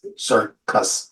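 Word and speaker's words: circus: C's in one word the first one is pronounced like an S sir the second one is pronounced like a k cus sir cus but two C's C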